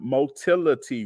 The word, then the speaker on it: motility: The term motility refers to self-movement. It rhymes with mobility.